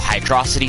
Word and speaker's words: Hydrocity: off last time in Hydro City Zone, or Hydrocity Zone, or however you want to pronounce that. I'm not going to judge you, but the correct term is, in fact, Hydro City.